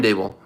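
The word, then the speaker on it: Daboll: say that they imprint they pronounced his name incorrectly but brian dabel he's not going to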